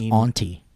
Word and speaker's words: ante: pronounced auntie.